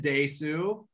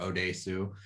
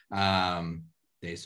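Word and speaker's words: Dae-su: So let's just go over their names and their pronunciations real quick. Thank you. So our main guy is Daesu, or Odesu. Daesu is fine.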